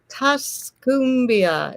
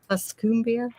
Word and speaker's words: Tuscumbia: Tasmbia, is that how you say it? And hit the button. Tuscumbia.